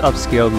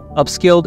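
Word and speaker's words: Upscayl: Upscaled is spelled U-P-S-C-A-Y-L.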